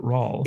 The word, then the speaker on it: Roald: Is it pronounced Roland or is it Rawl? It's Rawl. It's Roald Dahl. Yeah. Rawl Dahl. Rawl. Okay. There's no Roland. There's no N.